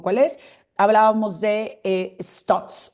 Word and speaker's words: Stutz: Hablábamos de eh Stots. Stots es una película que también está en Netflix. Se escribe stutz.